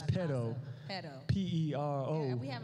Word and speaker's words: pero: I said it wrong this morning. A Spanish and English speaker said, pero why do I have to go to So that's pero.